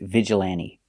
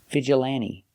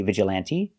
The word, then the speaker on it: vigilante: hand and man vigilante the t is silent you don't have to pronounce a t because n t between vowels you don't hear the t vigilante vigilante you can pronounce